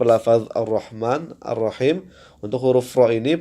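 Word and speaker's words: الرَّحْمَٰن: lafaz ee jalalah Allah kemudian Arrahman ya merupakan alif lam e Syamsiyah kemudan arrahim juga merupakan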